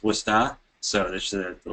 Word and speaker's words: Worcester: those of you who aren't from Worcester it's pronounced wora so this is a a little phonetic spelling